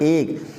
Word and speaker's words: ache: अजीब लग सकता है, बट the spelling is ACHE एंड we read it एक।